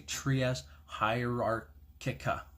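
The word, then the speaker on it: Trias Hierarchia: I wish I had pronounced that name wrong, but it is actually Trias Hierarchica.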